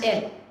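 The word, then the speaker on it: elles: we have ill and L remember the pronunciation guidelines even if there is an S at the end we do not pronounce that s it is pronounced as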